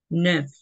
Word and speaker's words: neuf: Ya, recuerda que la EU se pronuncia como una sola U. Neuf. Neuf.